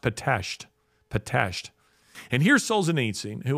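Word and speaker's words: Pitești: excuse me excuse me p-e-t-e-s-t-i it looks like patesty but it's pronounced patashed potato and here's solzenitsin who had suffered a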